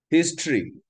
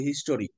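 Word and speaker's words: history: Commentary অর্থ ভাষ্য, টারি উচ্চারণ হয় না, দিস ইজ কমেন্ট্রি উচ্চারণ হয়, কমেন্ট্রি। হিস্ট্রি, ইতিহাস ইংরেজি কি, বাঙালিরা বলি হিস্টোরি আর ব্রিটিশরা বলে হিস্ট্রি, হিস্টোরি উচ্চারণ করে না, কমেন্টারি উচ্চারণ করে না, যেখানে লাস্টের টারি বা টরি আছে সেগুলোকেই তারা ট্রি উচ্চারণ করে।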